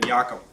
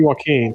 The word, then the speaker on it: Joaquin: It should be Joaquin. Whatever. Joaquin Phoenix. Yeah, go get Joaquin Phoenix.